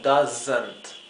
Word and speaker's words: doesn't: Fíjense que la S se pronuncia Z, no es S, no es la S como del español, es una S como si fuera una abeja zumbando, Z, ¿bien? Does not o doesn't.